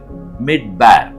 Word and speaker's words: מִדְבָּר: எபரேய வார்த்தை அதே வார்த்தை வனாந்தரம் என்பதற்கான வார்த்தையாகவும் காணப்படுகிறது மிட்பேர் அதனுடைய எழுத்துக்களை எபரேய மொழியில் உச்சரிக்கிறேன் மேம் டாலத் பேத் ரேஷ் உயிர் எழுத்துக்களோடு சொல்ல